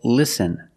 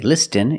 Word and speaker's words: listen: t is silent example listen and fasten you see s-t-e-n with this spelling pattern you can see that t is silent listen we don't say listen it's listen and fasten